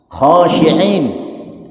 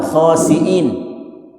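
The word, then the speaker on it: خاشعين: Kalau taskurun itu artinya mabuk khasyiin ya. Di dalam surah almukminun. Khasyiin bukan khasiin ya. Beda itu. Khasyiin orang-orang yang khusyuk.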